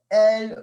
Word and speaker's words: elles: Notice I'm not pronouncing the S, so I'm not saying ils or elles. The only time I would pronounce the S is if there was a vowel.